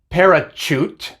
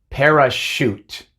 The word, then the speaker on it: parachute: Tampoco es parachute, sino que es parachute.